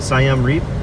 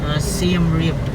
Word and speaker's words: Siem Reap: How do you, Siam Reap? Siem Reap. Siam Reap. Siem Reap. Yeah. Okay. Siam is like 9 in Filipino.